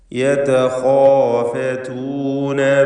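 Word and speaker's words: يتخافتون: യതഖാഫതൂന ബൈനഹും, ഈ പദത്തിൽ ഖാഇനും അലിഫിനും മാത്രമാണ് തഫ്ഖീമുള്ളത്. ഖാ എന്ന ഹെവിയാക്കിയുള്ള ശബ്ദഭാരത്തോടെ ഉച്ചരിക്കുന്ന ആ ഉച്ചാരണം. യതഖാഫതൂന, മറ്റക്ഷരങ്ങളെല്ലാം തർഖീഖിൻ്റേതാണ്, ഇസ്തിഫാലിൻ്റെ ഹർഫുകളാണ്. യതഖാഫതൂന ബൈനഹും, ബൈനഹും എന്നതിൽ അന്ത്യത്തിലെ സാക്കിനത്തായ മീമിനെ ഇൽഹാർ ഷഫവി നൽകി മണിക്കാതെ വെളിവാക്കണം.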